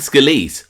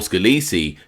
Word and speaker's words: Scalise: Frank Scaliz or Scalesi depending if you use the Americanized or Italian pronunciation was a mobster in what we now call the Gambino Crime Family.